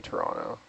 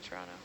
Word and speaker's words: Toronto: There's no T's in Toronto. Toronto? Not even the first letter. It's like a ch.